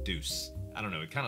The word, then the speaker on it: Deus: Today we're going to be looking at SCP Explained and Deus Ex Machina. I think you pronounce it Deus instead of Deuce.